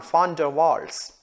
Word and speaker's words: van der Waals: fan d'avoir you know the right way to say the one it's not one but it is fun von der waals he got Nobel Prize